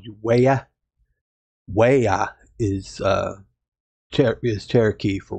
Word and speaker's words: waya: case you wonder why I called you waya waya is uh is Cherokee for Wolf so that's